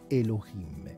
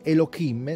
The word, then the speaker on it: Elohim: Siccome non si dice Elohim, si dice Elohim o Elohim, perché poi c'è anche una regola che dice che la He, tutto sommato, è muta, quindi a seconda di come